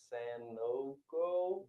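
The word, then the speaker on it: Sanogo: in college it's probably some San NOCO that's how you pronounce his name yeah we're just 17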